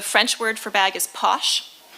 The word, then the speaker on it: poche: So the French word for bag is poche. In Anglo-Norman, the pronunciation of poche is poke.